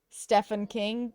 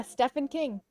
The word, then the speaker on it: Stephen King: Stefan King. Yeah, Stephen King. I really like that's how I've always pronounced it.